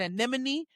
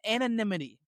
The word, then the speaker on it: anonymity: I kept saying anemone. No it's anonymity.